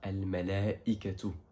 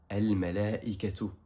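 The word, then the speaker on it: الملائكة: Ensuite, on a 68 fois le mot ange, et ange en arabe se traduit par Al-Malaikatu. Répète après moi, Al-Malaikatu.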